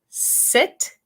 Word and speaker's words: sit: Try saying sit, sit, como sentarse, and seat, seat, como silla.